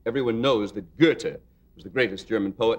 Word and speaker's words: Goethe: street name for him in Chicago which they pronounce Goethe II we've just made a terrible tactical and hygienic error have we not what's that you put it out okay but Goethe is honored goatee goatee is is actually honored by